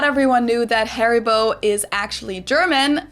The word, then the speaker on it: Haribo: Maybe not everyone knew that Haribo is actually German. We pronounce it Hari. Haribo.